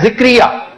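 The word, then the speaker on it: زکریا: सबसे पहले है जिक्रिया। हमेशा जिक्रिया ही सुनेंगे। शायद जिक्र से डिस्टोर्ट होके यह नाम भी जिक्रिया बन गया है।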